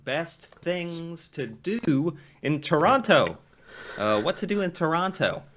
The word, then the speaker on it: Toronto: And yeah, at least you're pronouncing Montreal and Quebec like an Anglophone, but Toronto is definitely not Toronto, it is Toronto.